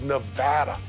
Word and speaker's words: Nevada: You get the Nevada, Nevada. That is like potato or patata. It's kind of like tomato and tomato. It is Nevada.